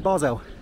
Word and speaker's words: Basel: the Christmas Market also noticed here look FC barzel 1893 de deat that's how you say it